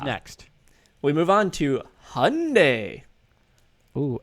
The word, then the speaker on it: Hyundai: We move on to Hyundai. Ooh, as they would say across the pond, Hyundai.